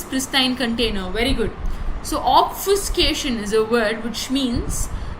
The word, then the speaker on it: obfuscation: So obfuscation. That will be the pronunciation of this word, because I googled a lot of times to understand the pronunciation of this word, and it's obfuscation.